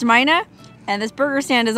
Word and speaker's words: Mina: It's pronounced Mina, and this burger stand is awesome, so I don't think I'll ever be able to pass it up again.